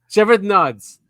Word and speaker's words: Shevardnadze: How do you pronounce that name? Shevardnadze.